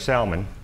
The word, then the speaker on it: Salmon: In the next race, we have Judge, I don't know if it's Salmon or Salmon. I pronounce the L, but I've been called worse. Okay.